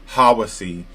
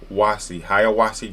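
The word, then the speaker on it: Hiawassee: Some people that are not from here may just not know how to pronounce. It's not Hawaii. It's not Hawasi. It's Haya. Hayawasi, Georgia.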